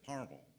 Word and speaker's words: Palmerville: near to us that if you live there you you pronounce it parmel if you read it it says palmerville but anyway I did